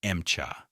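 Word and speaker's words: Emcha: Soviet crews called it Mcha. their pronunciation of M4.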